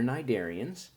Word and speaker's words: Cnidaria: Okay, you might not have known that about corals, but they're cnidarians. The C is silent.